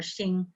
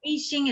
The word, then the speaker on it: Xing: like the word like i would never write x i n for xing yeah xing is s-h-i-n-g and then i can